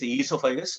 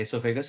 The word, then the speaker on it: esophagus: Some people call this esophagus, no problem. There are two different pronunciation. The esophagus or esophagus, you can use both way.